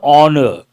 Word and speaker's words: honor: is this important here H is silent it is an honor not a honor it